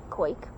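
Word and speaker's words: Qaik: what does it say now okay okay q-a-i-k quake and we're quakers it just gave me an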